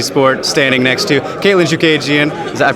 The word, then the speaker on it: Chookagian: here with Artie sport standing next to Caitlin shook agian does that pronounce that correctly right alright great awesome she